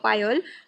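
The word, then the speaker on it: pyol: बैठता है ठीक है इसको जो आप प्रोनाउंस कर सकते हो प्योल बोल सकते हो पाइल बोल सकते हो ठीक है पोल ज्यादा बेटर रहेगा तो वो अपने प्योल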